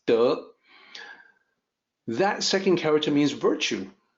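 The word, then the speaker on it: 德: way so the the second character which people mispronounce as Tay it's duh that second character means virtue so it's actually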